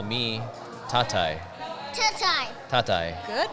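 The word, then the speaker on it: Tatay: Or you can call me Tatai. Tatai. Tatai. Good pronunciation, Yeah.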